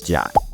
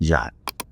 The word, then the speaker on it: JWT: jwc to be pronounced it's actually kind of easier to say jot instead of JWT um so that's the reason why JWT is pronounced jot the more you know